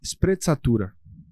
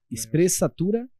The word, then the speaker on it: sprezzatura: vi na internet, mas assim, que se fala sprezzatura, né, que é você lidar com muita elegância, com muita tranquilidade de que vai dar certo aos movimentos da vida.